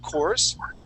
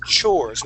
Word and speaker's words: chores: the word chores okay you had said uh coors um yes okay so it's chores with a ch try that chores nice